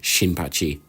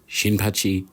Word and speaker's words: Shinpachi: I've been saying Kin instead of Ken. It's a whole thing. Look, you know who I meant? I meant Shinpachi. Shinpachi is his name.